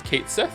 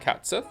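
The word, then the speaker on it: Cait Sith: So it's Kate Sith. It's not Cat Sith. Everyone I knew said it was Cat Sith, and they would call them Cat Sith.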